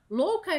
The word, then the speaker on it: louca: Louca e boca rimam por aproximação, porque a gente costuma tirar esse ditongo de louca e falar louca, né? Então, a gente suprime esse U na pronúncia verbal, assim, na verbalização.